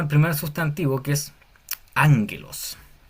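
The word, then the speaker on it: ἄγγελος: Tenemos el primer sustantivo que es ánguelos. Esta doble G, esta doble gama que hay aquí se pronuncia como NG, á angelos significa mensajero o ángel.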